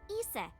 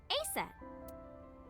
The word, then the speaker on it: Isis: horses mom is named isis but in ancient egyptian it's pronounced closer to isa or asa hmm how do i